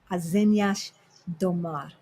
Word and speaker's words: Azenhas do Mar: Azenhas do Mar. Exato. Do you the last S? I don't use that. I'm Brazilian Portuguese, so I don't use the on the S.